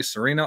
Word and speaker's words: Sereno: I think I pronounced your name right. I don't know why I never asked you how to pronounce your name. She's nodding her head. I can see her backstage. She said I got it right.